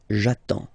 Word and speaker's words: j'attends: Okay, you get D and S, well, basically you don't pronounce them, okay, and then you get only the sound attends, nasal here, en, j'attends, okay.